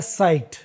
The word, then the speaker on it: cite: अब यहाँ दो शब्द हैं SITE, CITE, दोनों का उच्चारण होता है साइट। SITE यानी भी साइट और CITE यानी भी साइट।